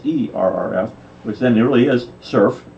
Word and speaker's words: SRRF: references for ser RF which then nearly is surf pronounced it correctly so it can be served that